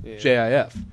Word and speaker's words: GIF: they mention here like they pronounce it at here at giftopia as GIF JF like I do because I think of gantic giant J or GI GIF right mhm but most the